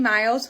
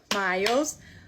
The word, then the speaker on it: Myles: And everybody was commenting saying that Myles is two syllables. I was on that train. You could not convince me that Myles was one syllable. Myles. Come to find out, I say it wrong according to the internet.